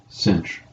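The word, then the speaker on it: sinh: hyperbolic trig functions the hyperbolic sine which is pronounced Cinch of X is defined and that means because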